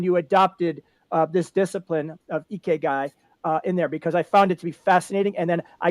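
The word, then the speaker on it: 生き甲斐: And you actually went, and I'm going to pronounce this probably incorrectly, but it's called Ikigai? Ikigai.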